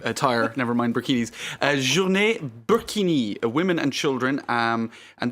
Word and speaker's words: burkini: So, I think using the word burkini, which rhymes with bikini, is probably a bit of a misnomer.